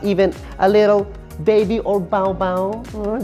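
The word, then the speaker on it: 宝宝: a little baby or baobao that's how you say it in chinese hello high five high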